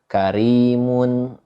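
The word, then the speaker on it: كريم: Karimun, tipis dibacanya karimun, nggak dibaca seperti qur'a, begitu.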